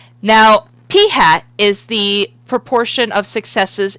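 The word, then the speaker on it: p̂: is this variable right here and this is pronounced P hat no I'm not kidding it is pronounced P hat so P hat the sample proportion of successes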